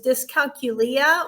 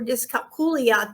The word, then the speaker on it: dyscalculia: And they didn't say that they didn't use the term, but I later found out that the math learning disability is dyscalculia or dyscalculia, depending on how you pronounce it.